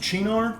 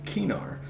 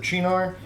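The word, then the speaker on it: Cynar: also it is pronounced chinar because that's how you'd pronounce it if it was an Italian word I take slight umbrage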